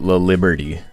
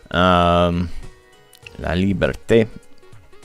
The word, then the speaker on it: La Liberté: in Windsor, and so they just pronounce it La Liberty. And like, okay, you're not even trying at that point. La Liberty. La Liberté.